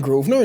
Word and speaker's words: Grosvenor: The Grosvenor.